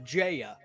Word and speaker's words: Jaya: Also, the main character's nickname is pronounced Jaya, like the bird.